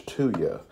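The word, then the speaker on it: thuya: this is called tuya it's spelled t-h-u-y-a and our pronunciation is to you and that would really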